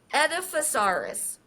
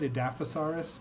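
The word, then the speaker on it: Edaphosaurus: So, the third dinosaur and other prehistoric animals is the Edifosaurus. I've always said Adafosaurus, but I think Edifosaurus probably is just as as acceptable because it's like Diploticus or Diplodocus.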